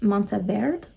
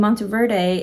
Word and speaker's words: Monteverde: But okay, I was watching Angie's video and she said that it's Monteverde is how you say that, and Monteverde is like the Americanized version, which would track.